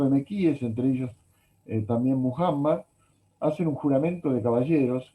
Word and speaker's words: Muhammad: Mahoma, Mahomet, Sí. su nombre es Muhammad, y por suerte en el idioma inglés se escribe y se pronuncia de la misma forma.